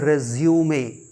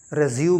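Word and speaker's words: resume: dictionary dictionary फिर देखिए आर ई एस यू एम E this is रिज्यूमे रेजूम नहीं रिज्यूमे इसका मतलब होता है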